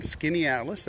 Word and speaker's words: Skaneateles: there's a lovely park here this is downtown skinny Atlas that is spelled s k a n a t l